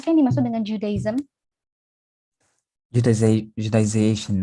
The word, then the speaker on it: Judaization: How to pronounce it perfectly? Judaization. Judaization.